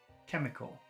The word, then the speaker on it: chemical: Chemical. Chemical. Chemical. Chemical. I think, what is that last sound? Cull. Chemical. No, it's short.